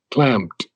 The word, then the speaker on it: clamped: Clamped. Clamped. You have to pronounce the D, yeah. Clamped. And the P, clamped. Clamped. You got it. Yeah, it's the P has to be heard.